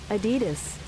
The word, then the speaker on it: Adidas: In German they would say Adidas. Adidas without stressing on any syllable in particular. Adidas. Adidas. Adidas. Pretty straightforward. But in right or American it is generally pronounced adidas insisting or there's there's